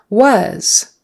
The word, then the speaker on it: was: another a word and the S on the end is really a z was start with a W lips come together ww and not was um not don't make that s a hissing s sound it has to be the Z was was um was